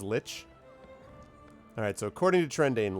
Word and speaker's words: lich: Trendane says lich.